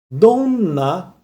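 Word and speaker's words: どんな: Dona qual dona qual tá? Quando o n tá dobrado, é como se falasse do na, tá?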